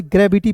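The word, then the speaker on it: gravity: अंतिम में वाई है तो इसका उच्चारण बड़ी ई के रूप में यानी कि इ के रूप में करने हैं।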